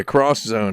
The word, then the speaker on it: X Zone: zone yes exo yeah cross zone i believe is how it was supposed to be pronounced right yep it was